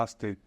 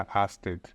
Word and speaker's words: Ørsted: No próprio YouTube deles, eles têm um vídeo que ensina as pessoas que tiverem interesse qual que é a pronúncia correta do nome da empresa em dinamarquês. Então mostra aí que já o pedido de desculpas, que a gente não está sozinho e que também tem ali a pronúncia perfeita em dinamarquês, a Asted.